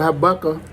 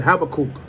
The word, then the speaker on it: Habakkuk: verse let's go to habaka have a cook habakkuk that's how he said have a cook I was saying it